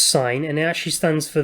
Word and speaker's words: sin: stands first sign or we abbreviate it to si n or sin but it's it's pronounced sine and now she stands